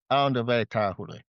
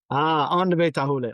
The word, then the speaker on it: Aondover Tarhule: I know it's not the easiest name to pronounce. Aondover Tarhule. Aondover Tarhule.